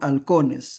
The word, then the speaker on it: halcones: Se ha perdido el sonido F. Y entonces se escribe solamente actualmente con H. Entonces, en el lenguaje actual sería, ¿no? Halcones, halcones reyes, y combaten oscos.